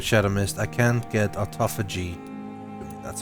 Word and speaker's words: Autophagy: I can't get Autophagy. That's how it's pronounced.